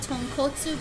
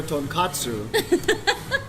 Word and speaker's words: tonkotsu: This is the tonkotsu broth, which is Okay.